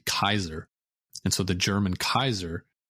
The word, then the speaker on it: Caesar: And even the Latin pronunciation of Caesar is actually Kaiser.